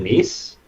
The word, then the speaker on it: Nice: I called it nice, and they were like, "It's pronounced Nice." Well, it would be nice if it was English, but it's French.